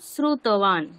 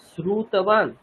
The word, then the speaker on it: শ্রুতবান: উন্নতহ শ্যামহ মধুরম গীত শ্রুতবান শ্রুতবান তাই শ্রুতবানই তো আছেই না শ্রুতবত আছে না আপনি প্রথমে উচ্চারণ কি করলেন কি উচ্চারণ করলাম কি জানি শ্রুতবান হ্যাঁ দন্তস উচ্চারণ করেছে শ্রুতাবান এখানে তালব স আছে শ্রুতাবান আচ্ছা আচ্ছা শ্রুতবান